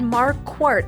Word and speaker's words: Marquart: It's Marquart like a quart of milk.